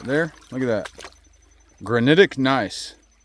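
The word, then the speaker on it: gneiss: look at that granitic nice that is what that is and it's pretty nice so but it's spelled g NE I SS so let's go in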